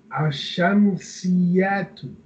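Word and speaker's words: الشمسية: and ashamsiyatu, ashamsiyatu, or ashamsiyatu. Ashamsiyatu, lam is silent. Okay. Ashamsiyatu. Okay. So whenever you see, lam becomes silent.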